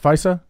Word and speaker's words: FISA: a FISA the tank you pronounce it right FISA yeah that's um that's